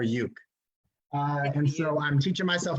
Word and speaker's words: ukulele: am an awful ukulele that's how they say it on the islands folks not ukulele ukulele or yuk and so I'm teaching